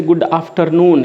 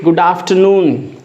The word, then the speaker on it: good afternoon: Don't pronounce this way, good afternoon. Here again R is silent. You should say good afternoon.